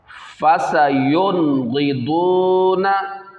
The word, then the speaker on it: فَسَيُنْغِضُونَ: آگے والے کے بھی۔ اس میں بھی دیکھیں اظہار ہی ہو رہا ہے، نون ساکن کے بعد غین آ رہا حروف حلقی میں سے، یہاں پہ بھی دیکھیں